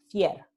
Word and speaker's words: fiel: Entonces, en Andalucía, la palabra fiel, loyal, se pronuncia fier.